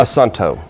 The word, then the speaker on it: Assunto: Assunto. How do you guys pronounce it? Assunto.